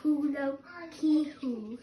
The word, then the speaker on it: Paulo Coelho: And therefore, I asked a Brazilian how to pronounce it. Paulo Coelho.